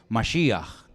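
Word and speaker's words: משיח: ¿Cómo se dice Cristo en hebreo? Ya lo hemos enseñado 1.000.000 de veces. Mashiach, que significa ungido.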